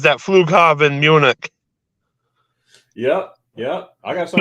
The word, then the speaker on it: Flughafen: Oh, Flughafen. Because it has let's see if I can go on. Yeah, Munich right there. It says that Flughafen Munich.